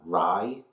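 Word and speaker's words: Rhy: remember the danger that rye reads right right i think his name's ry that's the way to pronounce it i remember the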